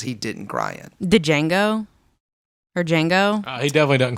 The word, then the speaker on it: Django: Did Django? Or Django? He definitely doesn't cry in Django. He doesn't Yeah. cry in Django. Yeah, See, again, I said Django. Whatever. Django. toilet. The D is silent.